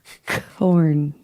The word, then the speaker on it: Korn: Corn. Corn. Not porn, but corn.